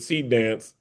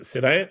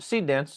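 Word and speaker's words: Seedance: was AI generated with seed dance. Yeah. Uh how do you pronounce it? Is it SD? How do you how do you No, seed seed dance.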